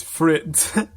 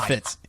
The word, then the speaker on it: Fitz: You mispronounced his name as Fritz. Oh, did I say Fritz? And I was like, Fitz is on the Fritz. Why did I say Fritz? I meant Fitz.